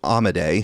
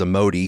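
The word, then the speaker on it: Amodei: So, uh, Darren Dario Amade, who I have previously pronounced as a Modi cuz I'm just reading it and not going by the way everyone else is pronouncing it.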